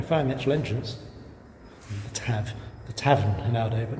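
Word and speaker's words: Taf: The Tav. The Tavern in Aldo, but now just called the Tav. Yes. So Welsh single F is pronounced as a V.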